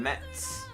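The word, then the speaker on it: Metz: profile says he's from Mets that's how you pronounce it France but he's currently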